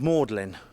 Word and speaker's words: Magdalen: that is it says Magdalene now um it's pronounced mlin U but it's spelled magine as in Mary